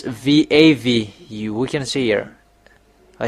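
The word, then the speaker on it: וָו: Even the ancient Hebrew or nowadays Hebrew, they say it's V.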